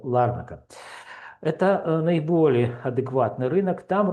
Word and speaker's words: Ларнака: Ну, там я еще не разобрался, куда ставить ударение, но говорят правильно, что Ларнака.